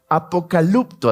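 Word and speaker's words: ἀποκαλύπτω: revelación que es revelación viene del griego apocalipto así se pronunciaría y significa remover quitar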